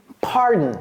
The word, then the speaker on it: pardon: Pardon, c'est comme ça que ça se prononce. Pardon, pardon, ok? Pardon, ce n'est pas pardon, pardon me, ok?